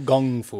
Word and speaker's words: kung fu: Okay, so in Cantonese, the term of Kung Fu should be pronounced Kung Fu, Kung, it's a G, Kung Fu. But the Brits, in their kind of nonsensical way of transliterating stuff, write that as a K, all right?